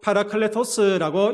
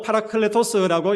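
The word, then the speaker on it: παράκλητος: 여러분, 이 보혜사라는 말은요, 파라클레토스라고 읽습니다. 헬라어로 파라클레토스라고 읽는데, 이 단어에는 이런 의미가 담겨져 있습니다.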